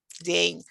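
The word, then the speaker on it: день: day actually dobre dean so the word jane only has one syllable jane and n is soft at the end so to say it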